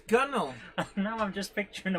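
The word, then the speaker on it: gunwale: going to pronounce that gunnel gunnel instead of gun whale no it's gunnel and now i'm just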